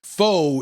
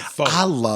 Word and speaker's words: pho: Apparently, pho is pronounced pho.